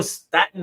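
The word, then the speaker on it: Staton: So if he says Staten, it's Staten.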